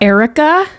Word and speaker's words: Airwrecka: Erica. AIRWRECKA. This is probably pronounced honesty.